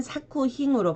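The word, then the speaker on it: 作品: 작품일 때는 사쿠힝으로 발음을 해주시고 제작일 때도 세이 사쿠, 작용일 때는 사요로 발음을 합니다.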